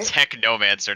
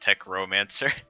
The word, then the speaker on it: Technomancer: Technomancer, not Techromancer.